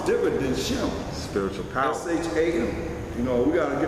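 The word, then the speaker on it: שם: Because they're writing S-H-E-M. There's no E in ancient Hebrew. It's Sham. Bahasham Hamashiach Yahushua. S-H-A-M.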